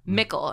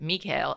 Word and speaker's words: Mikkel: all no meekl mikkel they pronounce it like nickel yeah mickel and it's like everyone in germany pronounce it mikhail it's not that hard like i just watched